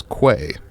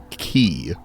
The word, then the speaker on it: quay: Now, I'd wager most of you read that as quay because it's spelled quay, but it is in fact pronounced key.